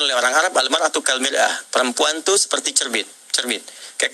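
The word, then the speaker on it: مرآة: Bahkan sering sekali orang Arab punya perumpamaan dengan mir'ah. Ya, kalimatnya sama, cuma cara bacanya beda. Al-mar'atu kal mir'ah, yang satu pakai fathah, yang satu pakai kasrah.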